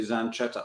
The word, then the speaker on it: Zanchetta: In Italian, with the CH is pronounced K. Yeah. You said Zanchetta, but I guess it's actually Zanchetta, I suppose.